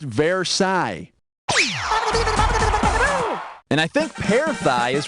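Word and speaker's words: Versailles: ended like World War I or something it's pronounced verai and I think peigh is what you get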